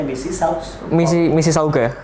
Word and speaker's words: Mississauga: Ada yang Political Science, kemudian University of Toronto, ini bacanya Mississauga. Mississauga Faculty ya.